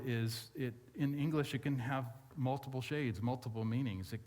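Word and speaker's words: ὁ: It's an omicron, which is like our English O, with a breathing mark above it, and it's pronounced "ha," which is kind of funny.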